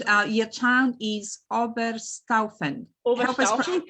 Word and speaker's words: Oberstaufen: Oberstaufen, correct. Yep. Oberstaufen, yep. Help us pronounce it.